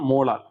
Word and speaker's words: molal: இந்த ஸ்மால் எம் எப்படி pronounce பண்ணணும் அப்படின்னா மோலால். நல்லா ஞாபகம் வச்சுக்கோங்க. மொலாலிட்டியை வந்து என்னன்னு சொல்லுவோம் அப்படின்னா மோலால் அப்படின்னு சொல்லுவோம்.